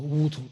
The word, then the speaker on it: wutou: How do you spell that? Or Wutu, W-U-T-O-U, Wutu, which is Akna root.